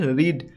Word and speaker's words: read: ভার্বের third form, ভার্বটা কি রিড, রিড মানে হচ্ছে পড়া, রিড, রেড, রেড, স্পেলিংটা কিন্তু একই READ, কিন্তু আমরা যখন উচ্চারণ করবো এটাকে রেড এইভাবে পড়বো।